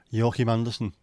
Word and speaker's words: Joachim Andersen: Joachim Andersen. The problem with his name, the way the Brits seem to pronounce him, is it makes it sound like his name is Yorkie Manderson. Like Yorkie the chocolate.